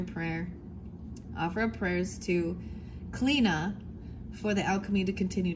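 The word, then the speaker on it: Chlíodhna: It's Clina, but it's spelled C-H-L-I with the little slash O-D-H-N-A, and it's pronounced Clina.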